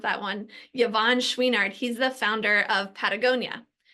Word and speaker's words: Yvon Chouinard: Yvon Chouinard, I had to look up how to pronounce that one. Yvon Chouinard, he's the founder of Patagonia.